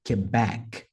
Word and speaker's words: Quebec: inglês aeronáutico vai ser Quebec Quebec então back é mais forte a letra R Romeo